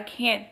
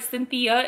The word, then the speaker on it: Cynthia: my American name but my real name is Cia like that's that's my name that's the pronunciation of my name being French speaking like my family calls me CA and then every time